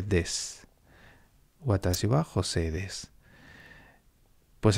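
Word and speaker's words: です: La U normalmente, cuando va al final, en la pronunciación esto depende también del lugar del Japón en el que uno esté, pero normalmente suele tender a desaparecer, ¿no? Por eso no se dice desu, sino que se dice des.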